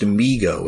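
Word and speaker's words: Mego: Oh, although I guess that's actually pronounced MIGO, isn't it?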